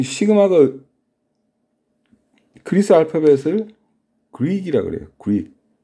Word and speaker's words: 시그마: 자, 그래서 여기 보이는 요 이걸 갖다가 이것도 그리스 문자인데 그리스 알파벳 중에 하나인데 시그마라고 읽어요. 시그마.